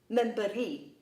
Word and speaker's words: memberi: Another example, the example of “give” The e in memberi does not carry the stress So in this example the stress is on the ri Basically the stress in